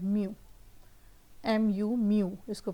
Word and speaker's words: mu: तो वो ये चीज़ है म्यू, MU म्यू इसको प्रोनाउंस करेंगे। इसका सिंबल ये आपके सामने है। इसके यूनिट्स को भी हम डिस्कस करते हैं इन डिटेल। सो ये जो लॉ है important, toe equals म्यू डी you over D वाई, this is very